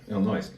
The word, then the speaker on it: Illinois: Yeah, Illinois. The people over there who don't believe in. The S is silent.